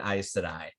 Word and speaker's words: Aes Sedai: And his answer is, "I'm going to save an Aes Sedai." Right. I mostly say that so that you know how to pronounce that annoyingly pronounced word.